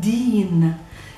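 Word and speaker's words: دِين: Now, if we take this same word deen, which means religion, and we change the vowels of the first word, adding the short fatha, the short a, the whole word pronounced would be dain.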